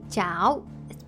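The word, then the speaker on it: cháo: I'm Vietnamese, so I say jao. It's spelled like c h a o.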